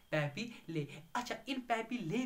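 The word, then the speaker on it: papillae: क्या बोलते हैं, उनको हम बोलते हैं एज पेपेले, पैपीले, क्या बोलते हैं, पैपीले, स्पेलिंग देख लेना, पैपीले उनको कहते हैं, अगर एक होगा तो पैपीला तो बहुत है पैपीले, ठीक है स्टूडेंट्स?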